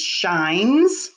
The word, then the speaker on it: shine: shine i um shine don't forget that silent e at the end makes the eye say its name shine number eight oh